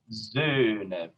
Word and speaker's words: Söhne: So I'm just, it's an A plus an O sound. Tongue in an A position, and my lips round into an O position. Flöten, Söhne, Söhne. Can you see both of those? This accent is on the first syllable.